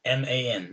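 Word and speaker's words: من: Mim fatanun, M-A-N, man.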